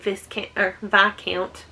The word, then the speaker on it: Viscount: How to Catch a Wicked Viscount. How it's written is not how you say it.